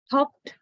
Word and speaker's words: hopped: The next word, B-E-I-G-E, pronounced as beige, beige, j, beige, right? J is the final consonant. J. Hopped, hopped.